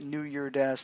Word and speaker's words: New Year Dash: And it is, in fact, New Year Dash, there is no S.